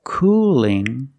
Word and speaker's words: cooling: Cool has a dark L at the end, but cooling has a light L. Do you hear the difference? Cool. Cooling. Cooling. Not cooling, but cooling. The tongue is straighter. The tongue is straighter and thinner.